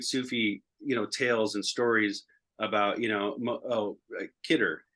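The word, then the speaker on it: Khidr: tales and stories about, Kidder, Hizr is kind of how it's said, was the green man,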